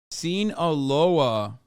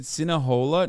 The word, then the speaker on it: Sinaloa: Am I saying it wrong? Sinaloa? Sinaloa. You said Sinahola? No, I didn't. I don't even know how to. Sinahola? I don't think I've ever said that. You said it wrong once, and chat can't shut the fuck up. You did once, but every other time you've been right.